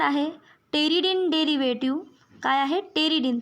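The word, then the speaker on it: pteridine: टेरिडिन. त्या ठिकाणी पी पासून स्पेलिंग आहे पण पी हलका आहे त्यामुळे टेरिडिन डेरिव्हेटिव्ह.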